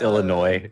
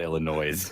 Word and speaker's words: Illinois: It's Illinois. Yeah. Is not Illinois.